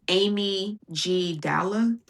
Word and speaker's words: amygdala: Amygdala. It's Amy G. Dalla. That's how you spell it.